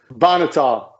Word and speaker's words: Bonhotal: I didn't even ask how to pronounce your last name. Is it Bonhotal? Bonhotal.